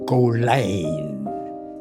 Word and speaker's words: Colyn: In Dutch, you say Colyn. I Americanized the pronunciation in Colyn.